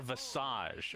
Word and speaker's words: Visage: Do you like Visage or Visage, or do you switch it up to keep people on I always their say toes? Visage. Always. Always. Visage sounds French, which is how you say it in French.